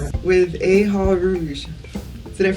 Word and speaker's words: Eha: chronicles here on the ndc with aha did i pronounce that right yes aha means actually four